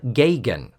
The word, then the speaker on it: Gagan: says his name, and he pronounces it Jim Gagan.